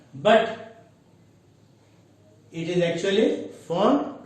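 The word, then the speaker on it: Pfund: It is P, F, U, and D, but P is actually silent. It is, many people pronounce it as P font, but it is actually font.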